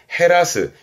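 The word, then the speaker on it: 減らす: 발음은 헤루. 말 그대로 줄다, 감소하다고요. 이렇게 쓰면 헤라스.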